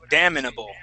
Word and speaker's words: damnable: word class okay we're we're gonna stick an I right in right between the m and the N so I would actually say damnable damnable damnable offense damin